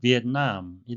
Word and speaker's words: Vietnam: 베트남의 영어식 발음은 비엔남이 되겠습니다.